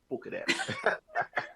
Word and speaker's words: Bucherer: And I'm glad that I'm pronouncing it right. Bucherer.